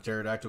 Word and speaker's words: pterodactyl: not hear when the pterodactyl goes to the uh bathroom why because the p is silent and I broke JD